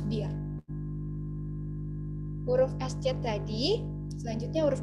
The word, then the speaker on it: Bier: Lanjut ada huruf IE. Terus dibacanya jadi I. Contohnya Das Bier.